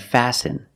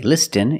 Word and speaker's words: listen: care and we have some words that have patterns letter patterns where the t is silent example listen and fasten you see s-t-e-n with